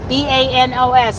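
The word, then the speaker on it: Los Baños: B-A-N-O-S. Is that Banos? Is there kind of a Y sound in there?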